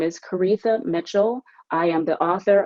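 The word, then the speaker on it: Koritha: again my name is karitha mitchell it rhymes with aretha though it's not spelled that way and you can of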